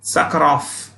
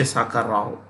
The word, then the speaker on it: Sakharov: Andre sakarov in fact the V here is pronounced with an F sakuroff but you say Sakara Rao so um that's about